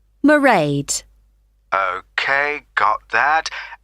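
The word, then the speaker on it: Mairead: do you spell that it's m a i r e a d marade okay got that it's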